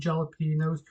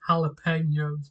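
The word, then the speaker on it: jalapeños: sauce to it and jalapenos, or as well as actually pronounced jalapenos. But you know, growing up, I always pronounce it with a J.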